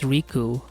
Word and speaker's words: Riku: Oh, it wasn't Miku, it's Riku. So, I was saying it wrong the whole time.